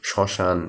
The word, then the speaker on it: শ্মশান: ব ফলার উচ্চারণ পদের শুরুতে ম থাকলে সেটা কিছুটা যোগ করে যেমন কি শ্মশান ঠিক আছে মানে নাক দিয়ে বের হয় দেখবা যখন তুমি শ্মশানটা উচ্চারণ করবা এটা সঠিক উচ্চারণ হবে কখন যখন তুমি এটা এটা নাক দিয়ে উচ্চারণ করবা তখন শ্মশান স্মরণ এভাবে হ্যাঁ তারপরে পদের